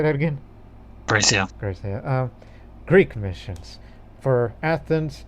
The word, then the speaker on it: Graecia: Probably Gracia.